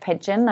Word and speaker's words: Pidgeon: And for those of you who are listening, is spelled N-I-Y-C and Pidgeon is the spelling of like the bird, Pidgeon. It's got a D in it as well though for Pidgeon.